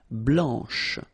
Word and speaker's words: blanche: final C, and then blanche. Okay, remember, when you combine this CH, you get the sound SH, blanche.